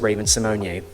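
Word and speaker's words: Raven-Symoné: I'm talking about hi I'm Reese properly pronounced Raven Symone thank you RuPaul she was a character in Xenon back in 1999.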